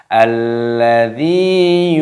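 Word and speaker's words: الَّذِي: Kita baca alladzi, lamnya berharokat tasdid, maka dimasukkan, diidghamkan, dibaca alladzi, ya-nya sukun, maka dalnya dibaca panjang 2 ketukan mad tabi'i. Alladzi yuwaswisu.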